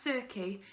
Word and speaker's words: Circe: Circe, he'd heard that name before, pronounced Circe.